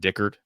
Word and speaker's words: Dickert: Jake, is it Dickert? How you pronounce his last name? Yes.